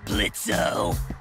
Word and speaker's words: Blitzo: Uh-huh, sure, Blitzo. The O is silent now, bitch.